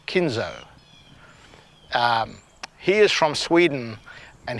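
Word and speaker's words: Kinhult: in h ult and the way the announcers were pronouncing it was like kinzo he is from Sweden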